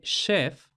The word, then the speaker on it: chef: Esto explica la diferente pronunciación entre chief con este sonido che y la pronunciación de chef con este sonido she, que según he consultado